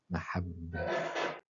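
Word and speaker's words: محبة: Donc, mim avec une voyelle brève fatha, ha et shadda sur le b avec un fatha. Donc, on a 3 voyelles brèves fatha avec une shadda sur le bas. Mahabba.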